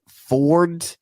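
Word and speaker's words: Foard: Ford. Yeah. It's spelled F-O-A-R-D.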